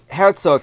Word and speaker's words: Herzog: So, Herzog here, I'm going to use the German pronunciation of his name because it looks German.